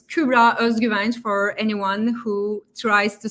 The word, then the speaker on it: Kübra Özgüvenç: And it's Kübra Özgüvenç for anyone who tries to spell it or not now while watching, just to help.